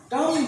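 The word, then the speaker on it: dumb: डम ब नहीं, बी साइलेंट। ये बी साइलेंट होगा।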